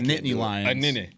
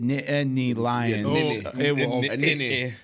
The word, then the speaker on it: Nittany Lion: show yeah you gotta You Gotta Throw the teas in there a lot of people just roll through it and it's almost like two syllables but it's a Nittany Lion and he was trying